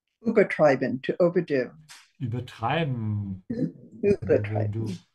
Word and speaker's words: übertreiben: Übertreiben, to overdo. Übertreiben. Übertreiben. Make sure to emphasize the second part. You can see it here from the dashes. Yeah, übertreiben, because this is not a separate verb.